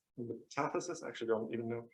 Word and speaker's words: metathesis: So there is a very famous reaction called metathesis. Metathesis? I actually don't even know how to correctly pronounce it in English.